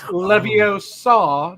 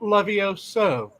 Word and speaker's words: Leviosa: were talking about pronunciation it's leviosa not lovioso oh is that a